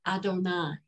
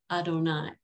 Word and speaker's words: Adonai: Instead, we, as I said, pronounce the 4 letters of the tetragrammaton as we call it Adonai. Adonai. And that's not at all what the letters say, and ascribe the same